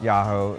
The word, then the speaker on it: Jaho: am a co-owner of yahoo it's spelled with the j but pronounced yahoo it's do a lot